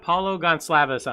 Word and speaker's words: Paulo Goncalves: We got Paulo Gonclaves on.